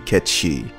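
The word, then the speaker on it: Cait Sith: character came from this is the name as it should be it should be Kechi you know and if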